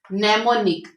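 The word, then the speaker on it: mnemonic: ये साइलेंट होता है इसको हम क्या प्रोनाउंस करेंगे नेमो निक ठीक है ये स्टार्ट में जो है ना ये साइलेंट है ठीक है इधर इधर नहीं स्टार्ट में साइलेंट है एम यहां पे नेमो निक ठीक है ये एक ही वर्ड है जिसमें एम साइलेंट होता है अगर आप को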